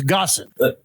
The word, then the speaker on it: Gossin: Gloriana huh so it's gosson just gosson I know yep it almost it almost rhymes with awesome or does it it's